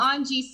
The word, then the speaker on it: Ange: It's Ange Sandals. That's Angelique Grignon. Okay, gotcha. Let me write it how it's pronounced phonetically.